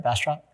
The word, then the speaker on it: Bastrop: Did I pronounce that right? Bastrop?